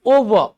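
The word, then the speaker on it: over: अच्छा ये बताओ, ये क्या लिखा हुआ है, ये क्या लिखा हुआ है, ओवर, इट्स नॉट ओवर, इट्स ओवर। क्या है ये, ओवर। आर के उच्चारण से बचिए।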